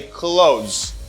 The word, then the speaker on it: clothes: pronounce the ta sound and this th sound gives you a voice th a voicey sound you can try to pronounce the th and it gives you the voice to its sound you can try to say clothes i know it's difficult